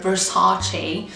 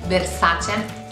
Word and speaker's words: Versace: I've heard Versace, which is very Americanish, but Versace is the way we pronounce it.